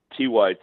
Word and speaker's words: TYT: Why don't you tell people what TIT is and why it is that liberals can't seem to do any like hard news without it being sort of sexual? Well, you're mispronouncing it, Ken. It's TYT.